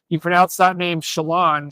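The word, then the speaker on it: Şilan: So I think between Shalane Eildiz, we learned that's how you pronounce her name. The top runner from Oregon, the Big Ten champion from Turkey, you pronounce that name Shalane.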